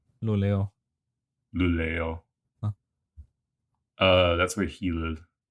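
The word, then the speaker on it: Luleå: How do you pronounce that? Lulea? Luleo.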